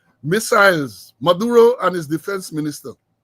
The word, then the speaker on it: Maduro: And there was a worrying statement coming out of Caracas yesterday from the Venezuelan President Nicolas Maduro. Emphasis on the fourth syllable, Maduro, Nicolas Maduro, and his defense minister.